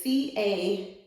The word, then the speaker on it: Cassili: But I don't know if you can see the name here, but it's, let me spell it out for you. It's Cassili.